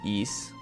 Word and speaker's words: Ys: ISU but yeah no the pronunciation is just East if you're wondering uh the name East